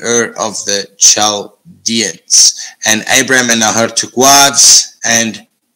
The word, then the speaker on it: Abram: So there we see Abram or Abram, Nahor, and Haran. That is the correct pronunciation for those.